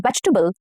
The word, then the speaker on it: vegetable: She eats 1 green vegetable every day. Vegetable. So it has about 2 to 3 syllables and not 4. Okay. Vegetable, not vegetable. No. Vegetable. Okay. 3 syllables.